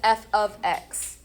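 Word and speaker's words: f(x): This special notation f parentheses x, we pronounce it as f ofx.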